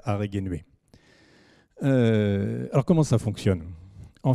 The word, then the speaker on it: Araegenue: La ville importante dans notre région, c'est la ville qui est ici écrite Aregenuae, où est qu'on prononce en fait Aregenuae.